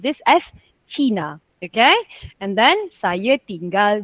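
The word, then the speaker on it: Cina: So, just now, Miss Amina, you pronounced this as China. No problem. Okay? But, in Bahasa Melayu, we pronounce this as China.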